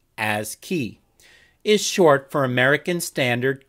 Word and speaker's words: ASCII: and simplest is called ascii text a-s-c-i-i pronounced as key is short for american